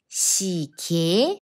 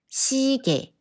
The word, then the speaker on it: 시계: But when 예 is combined with other consonants, it sounds more natural to pronounce as 에. 시계, no, no. 시계, 시계.